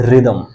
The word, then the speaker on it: rhythm: बट यहाँ पर एच जो है आपका वो साइलेंट है.